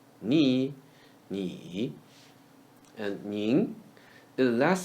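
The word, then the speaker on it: 你: Ni is the word ni read in the third tone. Ni, ni.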